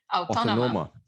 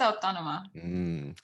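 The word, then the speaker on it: Autònoma: you went to Barcelona, Universitat how do you pronounce that? Autónoma. Universitat Autónoma.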